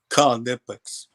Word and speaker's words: Knipex: knipex is not silent they actually want you to pronounce the k in knipex Conex they make shirts that